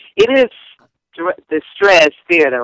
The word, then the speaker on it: Straz: So this Saturday, I'm going to be at, I want to pronounce this right. It is the Straz Theater, right? The Straz, yes.